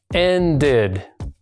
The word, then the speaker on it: ended: Por lo tanto, en pasado se pronunciaría así: ended.